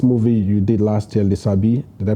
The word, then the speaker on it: Lisabi: And there's this movie you did last year, Lisabi. Did I pronounce it well? Right. Lisabi. Lisabi.